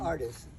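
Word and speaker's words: Ardies: How do you pronounce your mother's name? Artist.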